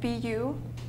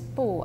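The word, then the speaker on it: 不: It's called BU, pronounced Bu in Chinese. Yeah. So could you explain the topic and the content of this exhibition? Sure. This series consists of 7 pieces, and the theme is Bu, as you mentioned. Bu is pronounced in the same way as No in Chinese, which means negativity and subversion.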